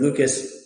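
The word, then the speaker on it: Luetge: from the game okay in favor of lucas yeah i think you did pretty well key is in there somewhere even though it's spelled l-u-e-t-g-e um he pitched some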